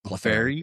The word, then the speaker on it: Clefairy: Clefairy.